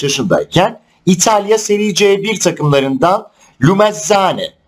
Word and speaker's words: Lumezzane: 2005 yılında 15 yaşındayken İtalya Serie C1 takımlarından Lumezzane, aslında doğru telaffuzu sanırım 2Z olunca TZ oluyor.